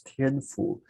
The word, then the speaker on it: Tianfu: look at this advisor which is pronounced as tien foo tianfu is somebody who is